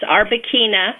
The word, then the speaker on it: Arbequina: I never know how to pronounce it. Quina or Quina? It's Arbequina, which is originally from Spain.